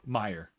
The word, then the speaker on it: Meyer: Well, and you kept mispronouncing Meyer, so Meyer. Right. No S. No S.